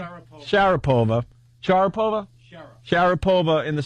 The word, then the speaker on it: Sharapova: sharo how do you say her name sharov Sharapova Sharapova Shar Sharapova in the city have to